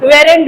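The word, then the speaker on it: weren't: जैसे वॉज नॉट को wasn't बोलते हैं, वर नॉट को वरेंट बोलते हैं, बहुत किसी को देखते हैं वेरेंट बोलते हैं, वो वरेंट होता है.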